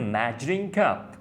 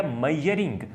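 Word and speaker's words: measuring: अब ये जो वर्ड मेजर है या मेजरिंग है, इसको बहुत से लोग गलत प्रोनाउंस करते हैं और कहते हैं मैयर या मैयरिंग। वेल, मैयरिंग एक गलत वर्ड है, ये गलतुल आम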